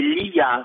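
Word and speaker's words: Liya: Mon prénom, comment ça se prononce? Oui, s'il te plaît. Ah, mon prénom. Alors, mon prénom, c'est Lia.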